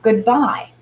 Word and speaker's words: goodbye: And what about goodbye? When I say goodbye or goodbye, the bye has more emphasis. I'm saying the bye syllable more strongly than the good syllable.